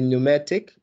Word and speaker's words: pneumatic: over there mnemonic and i know it starts with a p but the p is silent so what you say when you pronounce it really you say mnemonic okay so here is the pneumatic which means a tools